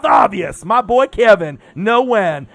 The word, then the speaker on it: Nguyen: No win. Not Nguyen for you amateurs that don't know how to say his last name.